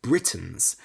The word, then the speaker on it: Britons: For example, in the UK, the Kelts were called Britain's, spelled B R I T O N. Confusingly, it's pronounced the same as the name of the country Britain.